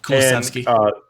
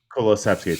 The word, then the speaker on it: Kulusevski: Kulusevski. Kulusevski. Thanks for pronouncing that one right.